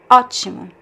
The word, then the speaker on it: ótimo: So we know the stress is actually in the letter O at the beginning. So ótimo. If we do not have this accent, it would be ótimo.